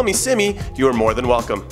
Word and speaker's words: SimmyJonrad: It's CIMMYJONRAD. I just flipped my initials, but it's pronounced Simmy, not Kimmy.